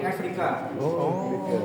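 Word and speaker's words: Εύρηκα: Cara bacanya bukan Eureka sebenarnya, tapi Afrika. Cara bacanya Afrika dalam bahasa Yunani.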